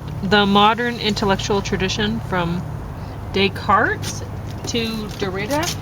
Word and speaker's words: Descartes: So I'm talking more about the modern intellectual tradition from Descartes to Derrida. How do I say that? It's French, so it's Descartes.